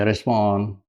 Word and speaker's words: Rismon: Rismon terbaca gampang, bacanya Rismon.